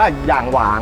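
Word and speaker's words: 仰望: ใหม่ เลย นะ ครับ ก็ คือ อ่าน ว่า อย่าง หวาน นะ ครับ หรือ ภาษา จีน นะ ครับ แต่ ก็ จะ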